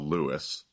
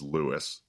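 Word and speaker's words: Lewes: think the correct pronunciation, the local pronunciation is Lewis. I don't think it's LSE like I used to think it is. I think it's Lewis.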